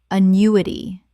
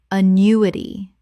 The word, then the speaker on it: annuity: Annuity. Correct pronunciation. Annuity. 4 syllables with the stress on the second.